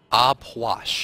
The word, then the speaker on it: Ah Puch: Aupois? Apwash. Apwash. P-W-A-S-H is how you say it.